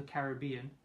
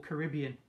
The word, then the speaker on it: Caribbean: in english we say you can say caribbean yeah i'm from the caribbean or caribbean yeah both uh you know phonetically